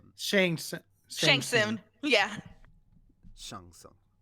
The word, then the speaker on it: Shang Tsung: Shang Tsung. I know how to pronounce his name correctly. I'm not Really? going with that American butchering.